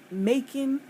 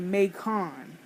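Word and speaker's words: Macon: in Mak Georgia sbar I didn't even know they pronounced making making because we have I live in Brooklyn and we have a mon street but we don't call it mon we call it makon so I don't know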